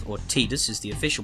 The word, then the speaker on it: Tidus: intention of renaming this guy his name is titus or tidus is the official pronunciation but when have i ever been official